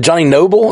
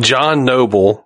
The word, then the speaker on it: John Noble: I was wondering, Johnny Noble? Is that how you say his name? John Noble.